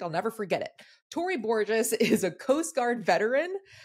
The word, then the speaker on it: Borges: was like is it bores he go she goes no it remind it rhymes with gorgeous I was like perfect I'll never forget it Tory Borgeous is a Coast Guard